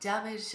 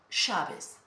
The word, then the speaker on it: llaves: However, in other countries, for example, Argentina or Uruguay, they pronounce it like ja, Chaves. It's more sound there, Chaves. Next time you listen to Leo Messi, for example, pay attention when he speaks. Ja, that sound. So maybe the pronunciation is like SH, Chaves.